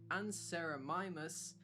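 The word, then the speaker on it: Anserimimus: Pronunciation anamimus.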